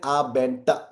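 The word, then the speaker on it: Abend: फिर उसके बाद अगेन अगर जर्मन लैंग्वेज में अगर कोई भी वर्ड अगर डी से एंड करता है तो उसका प्रोनाउंस एज अ ट चला जाता है तो ये हो जाएगा गुट एन आ बेंट गुन आ बेंट गुन आ बेंट उसके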